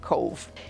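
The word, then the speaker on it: Cobh: Our first stop was in Cove Ireland. Now it's spelt C-O-B-H, but I'm told that you pronounce it Cove.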